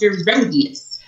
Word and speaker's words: Gerodius: It's just like it's spelled, Gerodius.